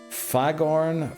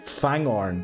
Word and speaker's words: Fangorn: Fagorn for my boy Treebeard. Okay, thorn. Did I mispronounce that just there?